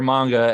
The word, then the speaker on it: manga: station and guys in the manga or manga as I now know I'm supposed to pronounce this there's actually a